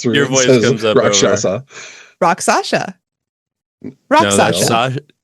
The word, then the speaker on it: Rakshasa: The word that Doug mispronounced, which we'll talk about later. Rakshasa.